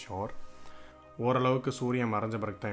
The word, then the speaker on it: Suir: இந்த ஆறு பேர் வந்து ஷோர் அப்படின்னு சொல்லிட்டு SUIR, but pronounced as ஷோர்.